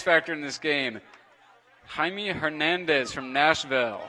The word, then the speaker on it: Jaime: Jaime, you sure that's not Jamie? It may be Jamie. I knew a guy in college whose name was spelled like that, and it was Jaime. So there's. Jaime Hernandez. but that Jaime was from Spain, so he wasn't from Nashville. Jamie We're Hernandez. gonna stick with That's Jamie.